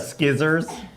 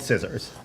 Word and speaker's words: scissors: Hey, could you pass that pair of skizzers? It's like, no, they're called scissors. You know, there's very few silent C's, especially at the front of a word, so I understand.